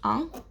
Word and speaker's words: un: to start off with one is ang i know the pronunciation is very different to the spelling so i thought i'd